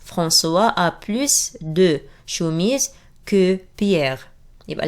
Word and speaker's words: plus: وهنا بننطق حرف الاس. فرانسوا a plus de chemises que Pierre.